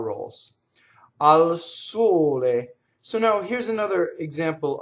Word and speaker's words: sole: So now here's another example of the word for sun is closed, right? So you'll see it as sole, it's full word. You'll see it with the end chopped off, sol, right? Now if you were to open the O, it's the musical note G, sol, right? So al sole, closed.